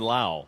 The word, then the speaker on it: Lowe: Now Brandon Lau, spelled Lowe, just like Nathaniel Lowe, pronounced Lau.